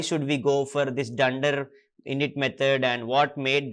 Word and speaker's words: dunder: double leading and trailing just pronounce it as dunder it will be easier for you because that's how python community people and who are familiar to python we pronounce in that way so i suggest